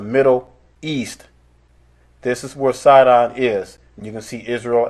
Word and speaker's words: Sidon: border shall be unto Zidon, or which is pronounced Sidon with an S.